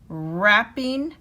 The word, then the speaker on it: wrapping: don't hear the w is right wrench wrists rapping wrong and wrinkles so now complete this template